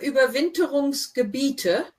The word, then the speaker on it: Gebiete: Und suchen ihre Überwinterungsgebiete. Remember, IE is the E sound.